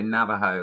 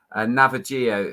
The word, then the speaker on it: Navajo: But in stall 1, Navajo, if that's how you say it. I wanted to say Navajo like the Indians, but Navajo, who's in stall 1 on the far side.